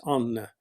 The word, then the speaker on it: Anna: Her name is Anna, or Americans would pronounce it Anne. It's Anne, but the Norwegians pronounce all the letters, so it's Anna.